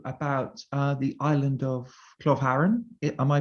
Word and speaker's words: Klovharun: by asking you about uh the island of cloth haran am i pronouncing that correctly yeah we would say club oh okay i won't attempt that um i